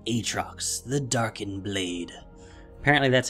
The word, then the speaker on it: Aatrox: to hit the live servers he is called atrox the darken blade apparently that's how it's pronounced yes complete with the deep voice that's